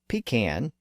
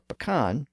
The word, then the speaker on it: pecan: lot with the large pecan or pecan tree in the backyard." One of the reasons why I composed that sentence with the word pecan or pecan was to see how everyone pronounced it.